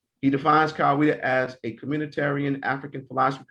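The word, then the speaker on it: Kawaida: swahili word meaning tradition and reason it is pronounced as kawaiida he defines kaweda as a communitarian african philosophy created in the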